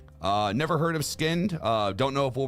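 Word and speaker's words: Skynd: out of that sound uh never heard of skinned uh don't know if we'll react to them but um so SK y n d but they're pronounced skinned okay so yeah oh Kayla says apparently Noah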